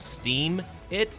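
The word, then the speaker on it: Steemit: The parent website of DLive is called Steam It, like Steam, S-T-E-E-M.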